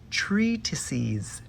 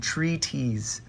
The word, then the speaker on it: treatises: Okay, and I kept saying treaties. I was getting a little lazy with my articulation there, and I'm sorry, and it pained me every time to hear myself mispronounce the plural form of treatise.